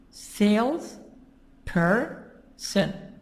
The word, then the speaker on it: salesperson: Sales person. So jumper, two parts. Sales person. You have here what? 1, 2, 3. 3 parts. 3 syllables. But where is the stress? The stress is in the beginning.